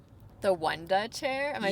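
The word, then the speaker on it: Wunda chair: The Wanda chair. Am I saying that right? You're saying it right. Some people think it's Wonder, but it's Wu N Da.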